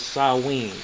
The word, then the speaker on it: Samhain: H AI n for some reason is perfectly pronounced as salween okay this is over here some hain for